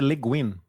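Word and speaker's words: Le Guin: quem então assim ó desculpa a pronúncia é leguin leguin Ok é vocês dois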